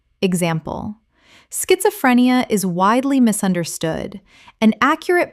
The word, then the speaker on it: schizophrenia: Word 68, schizophrenia. Common mispronunciation, schiz-o-phre-ni-a. Correct pronunciation, schit-zo-phre-ni-a. The s-c-h makes a sk sound. Five syllables. Example. Schizophrenia is widely misunderstood, and accurate public education about the condition is incredibly important.